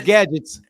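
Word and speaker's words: Gadets: name H H gadgets it's a spinner on the word gadgets like Inspector Gadget oh okay it's gadgets okay I got gadgets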